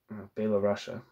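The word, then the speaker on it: Byelorussia: Belarusia, I guess is how it says. It says the way it's spelled in this piece is B-Y-E-L-O space Russia. Each question is isolated and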